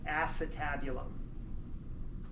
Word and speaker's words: acetabulum: in the hip bone that we call the acetabulum. Put your ass into it, type of thing. It's spelled acetabulum, but it's called acetabulum.